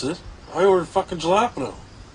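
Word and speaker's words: jalapeño: Ricky, the J's silent. I'm saying it wrong. The J's like an H, Ricky. Jalapeno. Not jalapeno. What in the fuck are you guys talking about?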